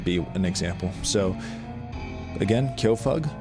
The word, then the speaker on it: Kyofug: My name's Kyofug, which is spelled like this, K-Y-O.